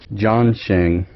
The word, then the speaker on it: Zongshen: way up to that gasket and seals it John Chang that's how you pronounce it John Chang thanks taco that's how